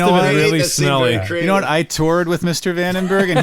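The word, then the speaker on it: Vandenberg: really smell with Mr vandenbberg and he actually pronounces it venor and Nick toured with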